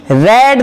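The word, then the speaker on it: read: तो ये second form है, फर्स्ट फॉर्म नहीं है, इसलिए इसका प्रोनाउंसिएशन रेड होगा, ध्यान रखें।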